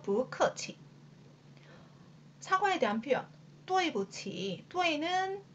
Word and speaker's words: 不客气: 여기에서 여러분들 체크해야 될 게 뽀는 원래 사성이지만 뒤에 사성이 연달아 나올 경우 앞에 뿌는 이성으로 바뀌면서 표기도 변화하는 발음으로 해줍니다. 그래서 不客气.